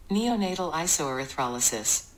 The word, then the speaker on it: neonatal isoerythrolysis: it that i've actually found a pronunciation pronoun pronunciation on youtube on google and i'm just going to play that for you neonatal iso erythrolysis yeah that i call it blood type incompatibility